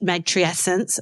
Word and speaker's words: matrescence: stages of Parenthood and M matrience am I saying it right yet matent very close yeah yeah getting closer and